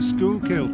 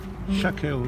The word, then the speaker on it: Schuylkill: So this must be a bigger river than the Schuylkill. There's another river here in Philadelphia. I thought it was pronounced Schuylkill, but it's not. It's actually pronounced Schuylkill. And that's in town.